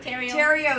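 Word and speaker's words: Theriot: And anyway, follow Mimi Girl Terrio. Terrio is spelled T-H-E-R-I-O-T.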